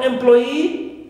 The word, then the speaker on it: employee: Also for employee, right, we stress ploy, clear, second syllable, and not e, which is normally, right, that suffix, all right, but here in this case it's an exception.